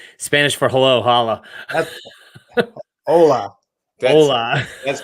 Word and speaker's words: hola: Hola. Hola. That's pronounced.